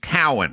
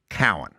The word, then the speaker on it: Cowan: What I get from everyone is I'll go, it's pronounced Cowan, right? And they'll go, it's Cowan. And I go, right. That's what I said.